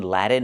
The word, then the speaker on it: Latin: We cannot say Latin. The word is pronounced Latin with a clear t where you release the t Latin America. Or you can do something else. You can do a stop T. Put the tongue up in a T position and then go directly to the N like this. Lat Latin.